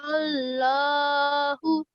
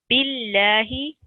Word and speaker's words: Allah: if the letter before it has a kasra, then it will be pronounced thin like Billahi.